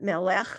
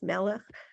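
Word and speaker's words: מלאך: is telling you to put more stress on the malach like it's not melach it's Mella you know that's why that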